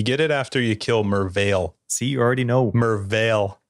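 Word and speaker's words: Merveil: No, it's like Mervale. He says it with an L. You hear the L.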